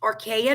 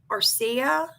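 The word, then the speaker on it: areca: Um it goes on to say we assess the curative effect of either pumpkin seeds or I think it's pronounced archa nut. A r e c a arca nut extract.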